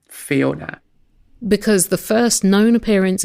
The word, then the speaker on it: Fiona: there is one usage of the word Fiona actually with the two little dots over the O, the diacritical mark, so we know it's supposed to be pronounced Fiona.